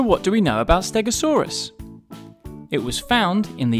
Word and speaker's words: Stegosaurus: Stegosaurus. So what do we know about Stegosaurus?